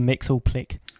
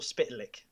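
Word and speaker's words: Mxyzptlk: to our email address tell us how you pronounce mr mix all click mix or spitlick that's our that's how i pronounce it anyway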